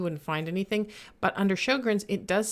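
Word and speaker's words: Sjögren's: to make sure i say it correctly syndrome sjogren's syndrome sjogren's syndrome sjogren's syndrome don't ever be afraid to google how to pronounce things because i do it i am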